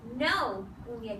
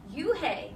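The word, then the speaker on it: Unhei: No, Eun-hye corrected. "It's spelled U-N-H-E-I. It's pronounced Eun-hye. Eun-hye. Eun-hye." "Oh, it's you-hey," the boy said.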